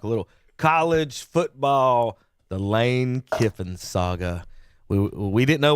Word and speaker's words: Lane: Was the reporter right in telling Lane Kiffin that your name is still Lane? you is not. Rhymes with lame.